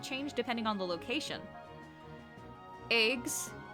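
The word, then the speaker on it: EGS: Eggs, and that is how it's pronounced, 4 AP consumed, enters the assigned eggs.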